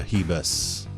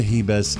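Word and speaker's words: Ribas: Paige Vanzant versus Amanda heba's spelled with an R but it's pronounced with an H Amanda he best is a plus 800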